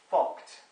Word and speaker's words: FCUKT: And that is something called a financial commercial UK transaction tax, yeah, FCUKT, which is pronounced FOCT.